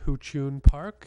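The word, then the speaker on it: Huchiun Park: It's October 28th from 11 to 5 at the New Park, which is pronounced Huchun Park.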